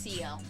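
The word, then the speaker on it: Ci-L: c i Dash l it's pronounced seal okay um she is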